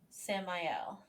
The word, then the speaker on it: Samael: Samuel. Samael. I like that better than how I was pronouncing it.